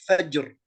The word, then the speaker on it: فجر: نعم قلت نعم صحيح، مثل كلمة كلمة خضر هنا بالضم، أما بالفتح مثل كلمة فجر، فجر الراء سبقت بفتح سكون سبقت بفتح.